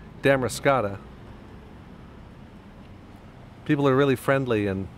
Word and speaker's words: Damariscotta: along and say hi tell me I'm pronouncing the name of the place wrong it's really damn race cata people are really friendly